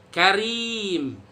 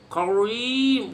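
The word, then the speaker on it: كريم: Karim. Tajri. Kalau yang tipis mah nggak usah diajarin juga bisa bacanya. Cuman jangan ditebel-tebelin, jangan karim. Wah, karim apa itu?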